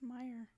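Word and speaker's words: Meijer: It's Meyer. Oscar Meyer.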